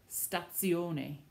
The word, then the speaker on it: stazione: The Z in Italian does not sound like the English Z. It sounds instead like a TZ, like the word you know, pizza, pazzo, stazione, lezione.